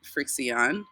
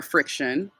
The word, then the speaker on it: FriXion: And these are Pilot Frixion or Friction. Probably Friction. Not Frixion. Friction. Probably Friction. It's just spelled with an X.